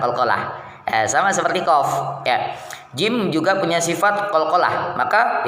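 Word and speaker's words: ج: Jim cara pengucapannya yang pertama tempelkan rapat-rapat lidah bagian tengah pada langit-langit keras. Lidah bagian tengah tempelkan ke langit-langit. Gitu ya. Dan yang kedua, hentikan nafas dan suara pada makhrajnya jahar dan syiddah. Jahar, syiddah ditekan nah ini tekan gitu pengucapan huruf ja ya.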